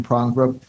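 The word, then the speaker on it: Porongurup: a contemplative life in the foothills of the Prongbrook Range. Did I say it right? That's it. Okay. An ancient mountain range in the great southern region of Western Australia. From her home in Prongbrook, Michelle works as a lecturer in theology for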